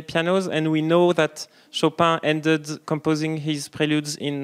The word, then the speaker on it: Chopin: He's mostly French, so we can say Chopin.